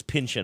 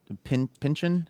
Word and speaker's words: Pynchon: I always say his name wrong. Pynchon. It's no, the is it Pynchon? It's Pynchon.